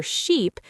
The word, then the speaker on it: sheep: For sheep, your mouth is more stretched and tense.